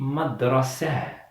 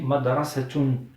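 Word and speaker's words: مدرسة: Mais quand je relis avec un autre mot, je dis madrasatun. Al-madrasatu jamilatun. Donc je prononce ta. Mais quand je m'arrête, je dis madrasah, madrasah. Je la prononce avec le son du ha.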